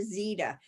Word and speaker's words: Zeta: yeah which is Zeta you have to call her Zeta it's Catherine Zeta oh damn the world's been saying it wrong yeah that's good to